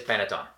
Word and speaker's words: panettone: Italian Christmas season is Panettone. Sometimes Italians chop off the end. And also Pandoro. And Pandoro. You'll notice sometimes we say Panettone or Panettone. Panettone, I think, is the correct pronunciation.